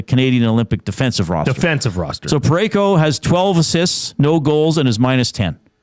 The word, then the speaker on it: Parayko: Does his name rhyme with Mareko? Colton Parayko.